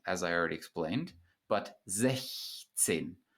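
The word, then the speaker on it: sechzehn: Sechs with a K sound, as I already explained, but 16. So in this word, you do pronounce the CH, the soft CH following the front vowel.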